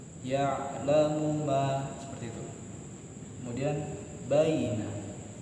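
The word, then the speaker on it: يعلم: Kemudian ada kalimat ya'lamu. Nah, di sini baru ada ain sukun. Jadi kita bacanya agak ditekan, tapi jangan terlalu berlebihan, nggak boleh. Ya. Nah, mohon maaf ya, terlalu tekan. Nah, biasa aja ya. Nah, cenderung tekan tapi agak halus. Ya'lamu ma. Ya'lamu ma.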